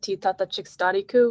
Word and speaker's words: Titata Chikstariku: So my Pawnee name means, or is pronounced Titata Chikstariku, which means she who thinks with her heart before she speaks.